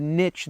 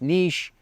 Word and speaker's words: niche: And I know some of you that are saying, Scott, it's not niche, it's niche, or it's nicho. I say niche because it rhymes with rich. Riches are in the niches.